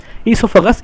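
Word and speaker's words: oesophagus: चलिए, ईसोफेगस, ये ओ को हम साइलेंट रखते हैं, ईसोफेगस कहते हैं।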